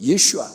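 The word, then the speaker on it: 예수아: 예수 예수 라는 말이야 히브리 사람들은 유대인들은 예수와 라고 말할 겁니다 그러니까 일시 하라고 발음되는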